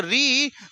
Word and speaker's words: ऋ: तो बोलोगे सर जब ऋ का उच्चारण करते हैं तो जो हमारी जीहवा है जो हमारी जीभ है वो किसको टच करती है? मूर्धा को टच करती है जिसकी वजह से ऋ ऋ र के रावा